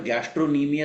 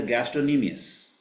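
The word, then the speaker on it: gastrocnemius: of Gomes and plants यहां पर गैस्ट्रो निमिय ही pronunciation होता है सी साइलेंट है वहां पे गैस्टॉक निमिय अस नहीं होता है रिमेंबर इट इज अ गैस्टोनी मियस गैस्टोनी मियस तो इनफीरियर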